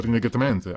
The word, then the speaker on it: Rinnegatamante: As for the pronunciation, it pronounced roughly into the Rinnegatamante, I guess.